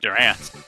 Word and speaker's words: Durant: yes Max moves can't miss I see it's pronounced Durant God using Durant in gen eight with such